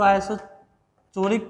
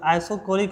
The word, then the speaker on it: isochoric: आइसोकोरिक process, अब पागल सर इसको आइसोचोरिक प्रोसेस बोलता है, तो ये आइसोकोरिक होता है, ठीक है, गलत प्रोनाउंसिएशन ना करें।